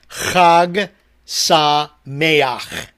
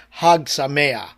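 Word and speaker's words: חג שמח: a quick moment, Deb, the actual pronunciation, even though I printed it in pronunciation for you, easy to say, is Chag, because Hebrew uses that sound. Chag Sameach. Yeah. Arthur was just talking about cats. That's what my cats sound like. Yeah. So yeah, like you're throwing up a hairball, but that's the actual way to pronounce it.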